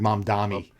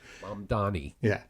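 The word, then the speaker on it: Mamdani: what I said you said mom dami you pronounce it like Bill Maher pronounces it mom Donnie yes um I'm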